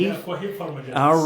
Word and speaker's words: Kohif: That's how it's pronounced, right? Kohif? Yeah, Kohif Pharmagenix.